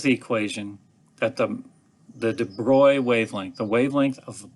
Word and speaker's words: de Broglie: going to totally butcher de broglie's name he's french so it's de bruy or however the french might pronounce that i say de broglie which a lot of people do but he came along and